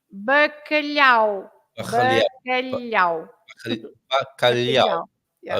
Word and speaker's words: bacalhau: Lots of people pronounce bacalhau, right? Yes. Instead of bacalhau, it should be bacalhau.